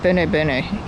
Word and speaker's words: Berno: to a ranger, and I think it's Berno is the pronunciation, not how I said it before.